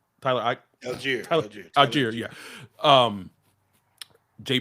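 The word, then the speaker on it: Allgeier: __ ] by Tyler, like a was it Aguire? Tyler Alier. Yeah. Um Jay pronounces his name wrong all the time and then now like I do it cuz anyway uh cheer.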